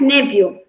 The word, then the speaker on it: nephew: it as a fur the ph sound is pronounced as ver in this word uh it's the first word it's pronounced as nephew coming to the second